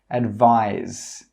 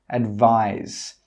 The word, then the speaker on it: advise: 'Advise' with an S has a /z/ sound. Advise. Advise. That means when you make the final sound in this word, your throat must vibrate. Advise.